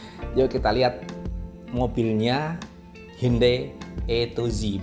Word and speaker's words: Atoz: Yuk kita lihat mobilnya Hyundai E2Z. Bacanya gitu ya, bukan Hyundai Atos tapi Hyundai E2Z. Maksudnya dari A sampai Z semua ada.